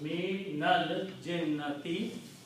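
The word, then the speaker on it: مِنَ الْجِنَّةِ: When you pronounce together, it's pronounced minal jinnati, from the jinns.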